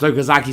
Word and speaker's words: Okazaki: a voice from behind me please wait Universe pronounced okazaki San my name is both written and pronounced